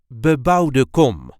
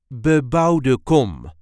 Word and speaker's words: bebouwde kom: a regular Dutch accent BE-BOUWDE KOM, or residential area. This is the way we say BE-BOUWDE KOM. BE-BOUWDE KOM. There is a light emphasis on the second word, BE-BOUWDE KOM.